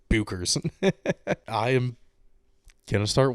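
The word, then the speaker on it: Bueckers: versus uh Paige Beckers I guess it's pronounced Beckers and not Bookers I am going to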